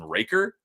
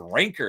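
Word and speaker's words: Moonraker: And then someone pointed out there's no n is moon raker.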